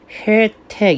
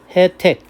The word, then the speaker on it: 혜택: 따라서 예가 원칙인데 에로도 인정한다는 겁니다. 즉 혜택 이게 원칙이지만 혜택 이래도 된다는 것이죠.